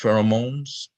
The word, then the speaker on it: pheromones: Sister Cassie said how do you pronounce pheromones?